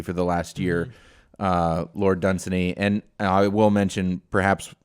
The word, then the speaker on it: Dunsany: the last year, Lord Dunsany, and I will mention, perhaps we're mispronouncing it. I've heard Dunsany and Dunsany, but Dunsany kind of rolls off the tongue.